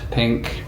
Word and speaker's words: P. Inc: This is my new room at P. Inc. Pronounced pink.